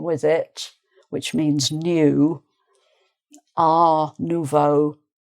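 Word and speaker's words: art nouveau: But because we have neuvo going with it, which means new a nuvo, people might tend to leave off the the t sound.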